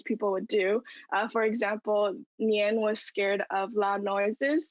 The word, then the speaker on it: nian: this creature a mythical a mythical beast called nian which is spelled n-i-a-n and it's essentially the name of